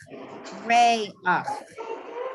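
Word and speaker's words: רֵיחַ: If you have a chet with a patach at the end of a word, you say ach, ho-ach, mo-ach, re-ach, no-ach, si-ach, echo-ach.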